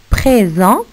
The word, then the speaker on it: présent: Présent, aussi, il y a un S à la fin du mot, mais il n'est pas prononcé.